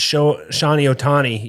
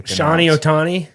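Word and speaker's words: Shohei Ohtani: go later they might go like trout versus Shawnee ohtani you know batting he just she just butchered how do you show hey it's actually like really easy Johnny ohtani okay anyways but no the rivals is really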